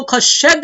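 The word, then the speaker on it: חסד: प्रिय जीसो, तो इब्रानी भाषा में करुणा को खशेद बोला जाता है, खशेद।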